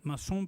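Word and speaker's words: maçon: masonería viene de masón masón Mason pronunciado así en francés Es albañil y Mason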